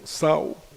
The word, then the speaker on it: Sao: I've been told it's Sao. That's the pronunciation, the correct pronunciation.